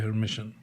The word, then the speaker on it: Hermitian: transpose becomes a hermitian it is pronounced a hermitian for example a which